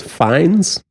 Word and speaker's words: Fiennes: and then the last last name is fines finds but spelled DNS well I gotta admit